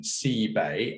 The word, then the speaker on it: CebAI: I'm referring to this pronunciation, CebAI, a bay where the sea comes in that you'll find on the coast.